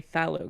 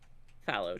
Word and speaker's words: phthalo: My main green color is actually phthalo green. Phthalo? Mm-hmm. How do you spell that?